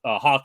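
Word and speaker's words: Haack: Matt Hack was Hawk, I should say. I always want to say Hack because the way it's spelled.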